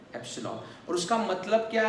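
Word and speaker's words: epsilon: अभी देखो student, एप्सिलॉन ई जैसा ये जो स्ट्रक्चर है एप्सिलॉन, इसको क्या प्रोनाउंस करना है? एप्सिलॉन, और उसका मतलब क्या है?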